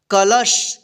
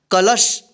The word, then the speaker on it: कलश: कीजिएगा के ल स कलश क्या पढ़िएगा कलश लास्ट वाले अक्षर में आपको आपके साउंड नहीं लाना है कलसा मत पढ़िएगा ठीक है कलश जिसे यहां पर देखिए